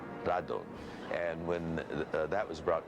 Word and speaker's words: Radon: Rodan which in Japan was called Radon you know it's the Japanese pronunciation of Radon Radon and when that was